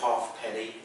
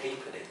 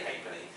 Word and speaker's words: halfpenny: you don't ever say halfpenny. In England you say halfpenny, right? You don't pronounce the L or the F, so I'm going to say halfpenny, but you can say whatever you like.